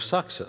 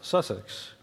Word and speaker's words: Sussex: building that at the University of sucks Sussex here in the UK yeah I know I mispronounced Sussex okay so why use